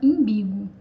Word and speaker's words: umbigo: Então, a palavra pode sofrer essa pressão de frequência e acabar sendo pronunciada imbigo.